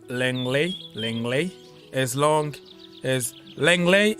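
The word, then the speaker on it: Lenglet: as long as Langley is not even say Langley because it's French. It's Langley. We call him Langley, but I know what you mean. He's French, so I know how to pronounce his name.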